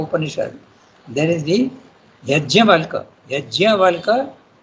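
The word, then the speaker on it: Yajnavalkya: Yajnavalka, you have to pronounce the JN when you write in English, but in Sanskrit it is Yajnavalka.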